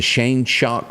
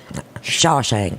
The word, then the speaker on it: Shawshank: you correct me here the Shane shock Redemption the shame Shawshank Shawshank I have to think